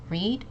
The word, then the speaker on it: read: gave it away uh it can actually be pronounced read or it can be pronounced read like I read a book yesterday in the past or I will read a book today okay uh the present okay next